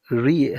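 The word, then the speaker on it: read: तो having रीड having रेड the book. किताब पढ़ने के बाद having रेड the book. रीड रेड रेड spelling same होता है। प्रोनंसिएशन डिफरेंट होता है।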